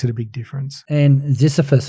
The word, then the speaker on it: Ziziphus: And Ziziphus, have I pronounced that correctly? Yes, you have.